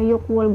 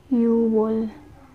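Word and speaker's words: 유월: Hindi siya yokwol guys ha. Kapag pagbibilang, ginagamit ang yok. Pero kapag months, you. Ito ay yuwol. Hindi po siya, hindi siya yok.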